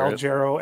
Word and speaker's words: Al Jarreau: The first name, is it Al Jarreau? Is that how you say his name? Yeah, that's how I normally hear Al Jarreau, Al Jarreau.